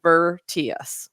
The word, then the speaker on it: Virtius: So anyway, it's spelled Virtius, which your spell check will try to change to many other words, but it is Vertius with an I.